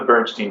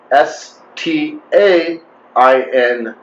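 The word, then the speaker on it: Berenstain: like crazy bernstein bears it's not the bernstein bears it's spelled b e r e n s t a i n stain in this reality whereas i specifically remember being spelled b-e-r-e-n-s-t-e-i-n yes i remember them being steins bernstein bernstein's bernstein bernstein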